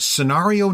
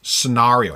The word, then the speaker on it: scenario: in that document, you will find Scenario 9. Yes. Which is pronounced scenario, not scenario. I had someone from England correct me.